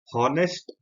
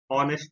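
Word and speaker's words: honest: इसलिए यहाँ पे आर्टिकल एन यूज हुआ है क्योंकि ये जो टर्म है ऑनेस्ट, इसमें एच अल्फाबेट साइलेंट है और हम इसको हॉनेस्ट प्रोनाउंस ना करके हम इसको ऑनेस्ट प्रोनाउंस कर रहे हैं, इसलिए आर्टिकल यूज हुआ है एन।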